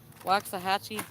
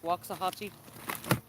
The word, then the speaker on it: Waxahachie: wax how do you say that again jeffrey waxahachie waxahachie walks a hatchy i could say that